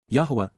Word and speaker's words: Yahweh: of his father's appreciation for his son's service Yahweh Yahweh the proper pronunciation of the name of eloah God has